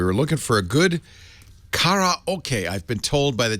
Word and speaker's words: karaoke: I don't think are there any English words that don't have emphasis on one syllable or another. I think not. Karaoke. I have to turn myself into a robot to say it without any emphasis. Karaoke.